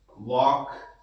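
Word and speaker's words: walk: जैसे टार वॉक same उसी तरह से है। यहां पर एल साइलेंट है।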